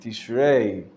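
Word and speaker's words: תשרי: And Tishrei is the way we pronounce it. E-I instead of I at the end. Tishrei. Kislev Tevet.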